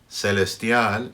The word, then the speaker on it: celestial: Celestial in Latin America, CE and CI, se, C, are going to be pronounced like an S. In Spain, however, that C is going to be pronounced like a TH, like the TH in thigh. Celestial.